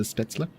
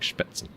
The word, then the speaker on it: Spätzle: Yeah, I've heard it say both ways. I just, as an English speaker, I don't expect that E to be pronounced. To me, it looks like Spätzle, but it's not.